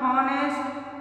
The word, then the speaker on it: honest: Third one, honest, honor, honor, और here. सबके अंदर H है ना, साइलेंट वर्ड है.